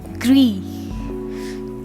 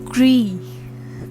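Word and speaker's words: gris: is gray what is grey called in french gree gree that is g r i s what is pronounced gree gree all right what is green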